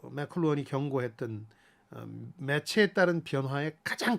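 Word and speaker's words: McLuhan: 그 마샬 한국에선 맥루한이라고 그러는데 미국 사람들 발음으로는 맥클루언이라는 사람이 1964년에 유명한 미디어의 이해라는 책을 내는데요. 이걸 소개합니다. 이 맥클루언은 지구촌 글로벌 빌리지라는 용어를 만들어내서 네.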